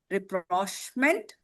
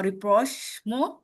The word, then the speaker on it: rapprochement: It's pronounced as rapprochement or rapprochement.